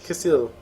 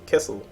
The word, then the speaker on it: Kecil: It's not Khaleesi, it's Kecil, or Kecil.